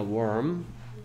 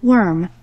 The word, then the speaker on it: worm: 얘는 발음은 worm이야. worm. worm.